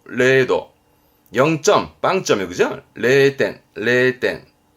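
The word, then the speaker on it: 零度: 그때 영하 발음은 레카 레카 영도 그렇죠? 레도 레도 0점 빵점이요 그죠?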